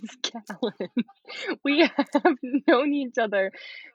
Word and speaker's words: Callen: the first uh Talon my my name is Carolyn we have no needs other for so long